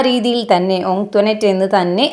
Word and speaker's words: Antoinette: Most of them pronounced it ആസ് ആൻറ്റോയിനെറ്റ്. മിക്കവാറും എല്ലാവരും അത് എങ്ങനെ പ്രൊനൗൺസ് ചെയ്തിട്ടുണ്ടായിരുന്നത്, അവളുടെ പേര് ആൻറ്റോയിനെറ്റ് എന്നായിരുന്നു. ബട്ട് കുഞ്ഞിച്ചിരുത learned from ആൻറ്റോനെറ്റ് that the name ought to be pronounced ഓങ്ക്ട്വനേറ്റ്.